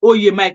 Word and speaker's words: Oye Mike: Beatrix said the name you were trying to pronounce is Oye Mike.